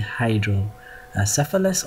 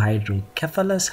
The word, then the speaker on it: hydrocephalus: last station is indeed hydro a cephalus or hydrocephalus however you want to pre pronounce it as long as you can spell it like this and then um classify